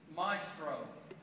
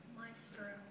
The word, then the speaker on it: maestro: Maestro. Maestro. That is a correct pronunciation, as you said, maestro. But it's maestro. Slight difference. Maestro, but there's an alternate of maestro.